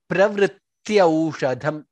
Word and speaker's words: प्रवृत्त्यौषधम्: Vritti pravrityaushadham, again pravri, two tas, pravrityaushadham. Yav, t, two tas and ya, all three letters should be heard very clearly. Pravrityaushadham. That's how it needs to be pronounced.